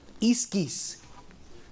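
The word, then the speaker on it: ἰσχύς: Una palabrita bien rara en griego, la forma que se pronuncia es iskis.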